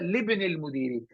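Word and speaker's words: لابن المدير: If it's in Hamzatul Wasl, it will not be pronounced if there's another word before that. It will only be pronounced if there's nothing before that.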